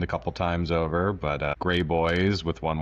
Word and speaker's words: Graboyes: I'm sure the name got bastardized at Ellis Island a couple times over, but Graboyes with one Y. Yeah, so it's not spelled like the color, Graboyes. Well, it's pronounced that way.